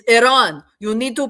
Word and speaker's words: Iran: But yeah, if you guys want to pronounce Iran properly, you kind of have to click your tongue a little bit. Um, that's at the R. That's how you uh pronounce it properly.